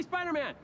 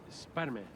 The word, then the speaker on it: Spider-Man: How do you pronounce the hyphen? Spider-Man. See, that's what I thought too, but it always felt weird. Spider-Man. The hyphen's right there. Spider-Man. Spider-Man. It sounds like you can't get it out.